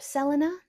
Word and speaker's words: Selene: But Selene or Selena, as it is pronounced in ancient Greek, she isn't simply just associated with the moon, she is the moon.